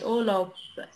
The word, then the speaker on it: Urlaub: Urlaub Urlaub بنطق بي تقيلة.